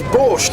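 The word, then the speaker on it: borsch: even close is this it's borch is exactly what it is one of these days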